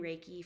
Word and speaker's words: Reiki: practice of Reiki you may have heard of Reiki before it's spelled r-e-i-k-i Reiki is basically uh sort of